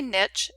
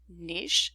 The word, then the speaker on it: niche: And anyway, with respect to this particular word, some say niche and some say niche, and both are acceptable.